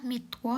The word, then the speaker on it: Mittwoch: Oke, aku jelasin aja ya cara bacanya. Montak. Montak itu Senin, Dins itu Selasa. Mitwo itu Rabu, Dona itu Kamis, Friday itu Jumat, Samstag itu Sabtu, sontak itu Minggu.